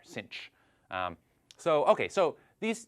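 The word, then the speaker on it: sinh: we usually pronounce this cinch uh so in in American English as if there were an extra c in there cinch um so okay so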